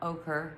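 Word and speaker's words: Oquirrh: Anyway, we have something called the Ochre Mountains. In Ochre Mountains, and it's spelled like Q-U. I don't know, there's H's and U's and A's and I's and R's and S's.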